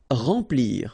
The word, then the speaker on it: remplir: Remplir. Okay, E-M nasal, en, remplir.